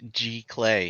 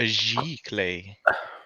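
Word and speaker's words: giclée: some different framed options JISC says it's pronounced ji clay is that correct ji ji clay I don't I don't okay so we're gonna go with discs definition of bricks and a dollar says it's a giclee oh we got a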